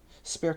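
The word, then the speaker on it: Spercheus: Spare spelled s p e r c h e u s five five.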